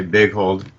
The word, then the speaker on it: Boeghold: the Spocks, while Boeghold, do I pronounce Big, it right? yeah, I don't know what it would be in its official European pronunciation, but in America we just say big hold.